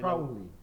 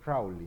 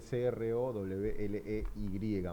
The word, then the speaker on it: Crowley: Bien, pronuncia bien el el apellido Michel Crowy. Michael Crowley. Eh, se escribe C R O W L E Y.